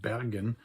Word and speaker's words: Bergen: The Norwegian city, Bergen, or as the locals pronounce it, Bergen, has had a very long history as an affiliated member of the Hanseatic League.